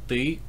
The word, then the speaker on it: ты: Anyway, so for you, singular, it's ты, or ты, ты, if you want to be really lazy and don't want to pronounce the ы sound.